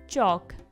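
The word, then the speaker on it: chalk: जो चाक है इसमें जो L है वो क्या है, साइलेंट है।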